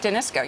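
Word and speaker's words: Danisco: that we haven't seen yet now you you denisco am I say it right denisco yes you guys just bought it deal and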